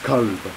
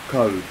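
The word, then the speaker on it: قلب: And they are pronounced very similarly, except for the first letter is different. So the dog is kalb, kalb. But heart is kalb, kalb.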